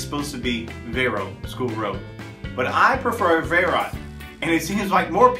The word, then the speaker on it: Verot School Road: start with one that I have trouble with verat School Road or is it Vero School Road or verat